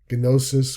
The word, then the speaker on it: gnosis: Gnosis, we don't use the GN, we just use the N again.